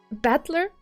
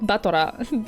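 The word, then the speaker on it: 戦人: And it's pronounced Battler? I don't know. Should I read it Batora from now on? Because I can do it if you want me to. It's a bit weird for me.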